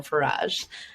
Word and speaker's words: Farage: So for those of you who don't know how to pronounce my last name, it's Garage with an F, so Farage.